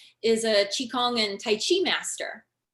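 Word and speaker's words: qi: what they call the chi it's spelled q i but it said chi and it also can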